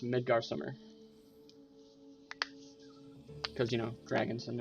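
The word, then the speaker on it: Midgardsormr: out of it um and his name is pronounced midgar summer because you know dragons and their names we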